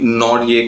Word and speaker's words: Nortje: नहीं जानते होगे, एंड्रिक नॉर्डिये करके, NORTJE, शायद इसी तरीके से प्रोनाउंस किया जाता है उनके नाम को।